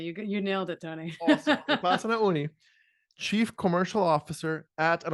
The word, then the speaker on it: Upasana Unni: Upasana Unni. Exactly. You nailed it, Tony. Awesome. Upasana Unni, Chief Commercial Officer at, and of course, I didn't ask how to pronounce the company, at Sayata.